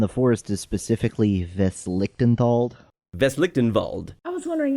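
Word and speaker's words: Westlichtenwald: Veslichtenwald. I was wondering how that was pronounced.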